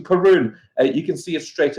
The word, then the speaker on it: Caorunn: of the things that we'll talk about so pronunciation karoon you can see it straight away this is